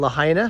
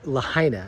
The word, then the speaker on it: Lahaina: Have you heard about what just happened in Lahaina, Hawaii, over in Maui?